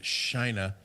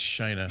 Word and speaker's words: China: the next four years we have to pronounce it Shina it's Shina from now on in honor of